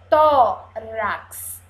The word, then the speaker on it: tórax: com som de cs Vamos ver eu sou o x com som de cs tórax tórax e vamos ver